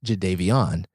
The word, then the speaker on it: Jadeveon: conference, he goes, "Hey, my name is actually pronounced Jadeveon."